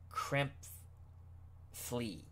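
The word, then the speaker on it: Krepfle: in the past also gave me the right pronunciation of the tight end for the eagles crimp flea cramp flea thank you very much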